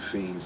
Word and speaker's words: Fiennes: And his name is Joseph Fiennes. I believe that's how you pronounce that. N-N-E-S is how you spell the name. Joseph Fiennes is how I pronounce it.